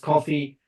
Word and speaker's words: KOFY: So coffee, it's KOFY. It's just an abbreviated version of my last name, which is a very long name. So KOFY, pronounced coffee.